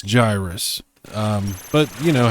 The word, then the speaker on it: Gyruss: familiar with oh and it's not pronounced gyrus i don't know why anybody would pronounce it gyrus it's a gyroscope gyrus it's a play on words so it's it's gyrus um but you know